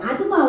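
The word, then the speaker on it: אַדְמָה: 그리고 아드마 왕, 이 아드마 보세요.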